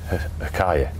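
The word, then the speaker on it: Huacaya: aren't they yeah but I think you pronounce it hakaya hakaya okay where are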